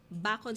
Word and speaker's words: Bacon: Sabi niya, we're proud for a Ynish official from Bacon, Sorsogon.